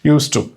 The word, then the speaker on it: used to: Okay, you need not pronounce it. Used to.